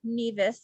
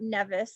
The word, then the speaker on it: Nevis: And I just realized that I mispronounced that earlier. Nevis, not Nevis, like a true novice would.